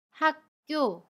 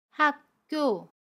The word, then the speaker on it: 학교: 함께 알아볼게요 대학교 입학을 축하해요 이 문장에서 먼저 학교를 볼게요 학교 4 학교 라고 발음합니다 아침 기억이 다음에 오는 자음 기억을 만나면 첫소리 오는 자음 기억은 쌍 기억으로 된소리로 발음해 요 그래서 학교 학교 라고 발음합니다 두번째로 입학을 볼게요 입학은 입하 이라고 발음합니다